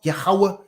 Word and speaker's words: Yahweh: Yeah, you could say Yahuwah. Pretty much the same thing. Some people just pronounce it differently, but it's spelled the same. Yahuwah, Yahweh, call it what you want, man. That's just a different in dialect pronunciation.